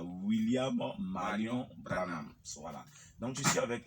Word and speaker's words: William Marion Branham: disciples de l'église de William Marion Branham, je pense que je prononce bien, c'est ça? C'est William Marion Branham. Voilà, William Marion Branham.